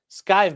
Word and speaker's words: Skeeve: Skeeve Man says, my name rhymes with Sky. Okay. Skive Man.